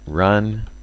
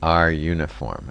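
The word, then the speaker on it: runif: Now, just to put this in a little bit of context, so run, I'm sorry, it's not run, it's not pronounced run. It's R uniform, actually.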